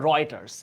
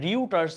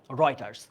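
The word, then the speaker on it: Reuters: আচ্ছা আমরা জোহানেসবার্গ ওকে রয়েটারস এই উচ্চারণটা কিন্তু রিউটার উচ্চারণ কি হবে রয়েটারস রয়েটারস ধরা হচ্ছে আন্তর্জাতিক একটা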